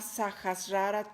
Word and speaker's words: Sahasrara: Este chakra de la corona se llama Sahasrara Chakra. Sahasrara se escribe S-A-H-A-S-A-R-A.